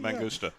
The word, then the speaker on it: Mangusta: Mangusta.